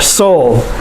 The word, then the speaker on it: Seoul: the capital seoul that's how you say it seoul korea let's go on to the next part